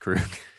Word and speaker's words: Krug: this project, I'm guessing, is pronounced Krug.